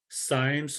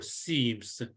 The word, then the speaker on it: cymes: I guess it's either pronounced as cymes or seams, and so they are huge flower heads.